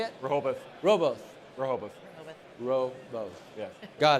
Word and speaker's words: Rehoboth: Alan is currently working at, and hopefully I get this right, Rehoboth. How do you say it? Rehoboth.